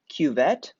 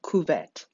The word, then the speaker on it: cuvette: collect that data point please pardon my stubborn mispronunciation of the word cuvette or cuvette cuvette is a french word referring to a small